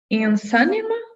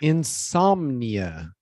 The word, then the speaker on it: insomnia: Insomnia. Close. Insomnia. Yeah, so you're gonna close your lips on the somnia. Insomnia. Nia. Insomnia. Yep. And the stress syllable is psalm.